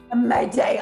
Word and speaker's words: Imade: Imade.